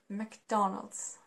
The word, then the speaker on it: McDonald's: already said it so it's not McDonald's it's not I don't know McDonald without this it's pronounced like McDonald's McDonald's ok McDonald's do